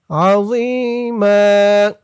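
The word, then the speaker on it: عَظِيمًا: রন আজরন সানুতিহিম আজরন আযীমা আযী একালিফটান জেরের পরে ইয়া সাকিন আযীম জোর উচ্চারণটা খেয়াল করবেন একেবারে জি বলা যাবে না জি বললে এখানে এই জার উচ্চারণ চলে আসবে বলতে হবে নরম করে মুখটা একটু গুল ভরপুর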